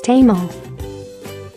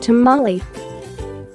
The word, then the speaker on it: tamal: food to Manly and the correct singular form is tama in english it's commonly spelled and pronounced tamale tradition holds that the